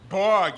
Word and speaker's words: BORG: First of all, it's pronounced Borg, you f***ing loser.